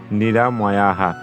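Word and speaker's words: নিরাময়াঃ: অর্থাৎ নিরাময়া এই শব্দটি শুদ্ধ উচ্চারণে আমাদের হয়ে যাচ্ছে নিরাময়াহা তো এরপর পরবর্তীতে দেখো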